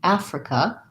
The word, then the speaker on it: Africa: maybe is unfamiliar whereas africa africa first syllable stress and this has the black cat vowel so ah for asia